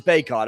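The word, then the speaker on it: Bacot: bar i figured is one but it is baekhod okay i was pronouncing it right he goes left side with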